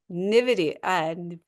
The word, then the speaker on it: NVIDIA: So we are looking at the SPY, McDonald's, IBM, Lilly, Cummins, FedEx, Apple, Nvidia.